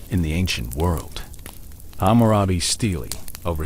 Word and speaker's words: stele: A stele, pronounced stele, is a large slab of stone set upright in the ground, often inscribed with words or images.